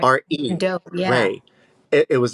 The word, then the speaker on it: Re: Ray.